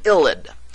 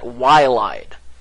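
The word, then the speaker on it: ylide: I love this word illid it starts with the letter Y I always want to pronounce that yide but don't you dare pronounce it wde because that's not how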